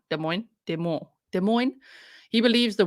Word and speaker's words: Des Moines: we talked about that place and I'm like demois Des Moines Des Moines he believes the women and authorities